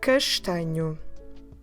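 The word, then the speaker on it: castanho: let's learn the word for brown brown is castignu this is quite a long one so i will spell it for you to help you see ah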